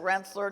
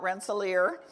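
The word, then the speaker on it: Rensselaer: Um she always pronounced it wler, not Renelier.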